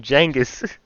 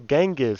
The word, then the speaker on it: Genghis: don't like the way he say his name Jenis? I always thought it was Genghis. Jangus beneficial among the Mongol Empire or did